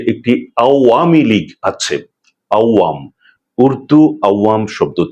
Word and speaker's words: আওয়ামী লীগ: আরেকটি হচ্ছে নিষিদ্ধ আওয়ামীলীগ। এখনো পর্যন্ত এই প্রাচীন দলটির উচ্চারণ নামের উচ্চারণ অনেকেই ভুল করে থাকেন। তারা বলেন আওয়ামী লীগ। এর মধ্যে যে একটি আওয়ামী লীগ আছে আওয়াম।